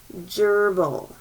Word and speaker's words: gerbil: fat gerbil mask oh gerbil did you hear that soft g at the beginning gerbil a gerbil's kind of